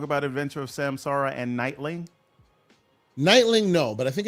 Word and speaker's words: Nightling: So like night. Yeah, like night and then L-I-N-G. So Nightling.